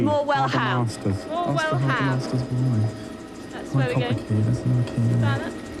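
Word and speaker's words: Morwellham: The accent is on the ham. So Graham should be able to help you there. No, I'm only joking. It's more well ham.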